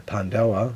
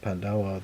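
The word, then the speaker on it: paj ntaub: the traditions in M Life uh namely the pandaa that's not spelled that way but that's how it's pronounced pandaa which is uh also called the history cloth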